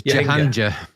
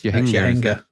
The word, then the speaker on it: Jahangir: I thought it was Jahangir, but it's Jahangir.